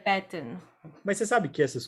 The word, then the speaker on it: Batten: É Batten. Eu lembro do tipo Batman. Batman. Eu gostei desse seu truque, lembrar do Batman. Então, Mas você não sabe... é Batten, é Batten.